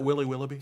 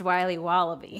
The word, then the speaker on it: Wiley Wallaby: Can I have a piece of that Willy Willoughby? Wally Wibbly. Wiley's Wallabies. Wallaby Wallies? Wilby Wallaby. It's pronounced Wiley Wallaby.